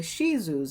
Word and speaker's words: Shih Tzu: If you guys know anything about Lhasas, they're also closely related to the Shih Tzus, or the Shih Tzus is the actual proper pronunciation.